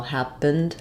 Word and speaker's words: happened: going on on here we're really just saying one short little vow happened happened uh a little bit of awah or almost just uh no vowel going right from the P to the n and the D sound P happened to be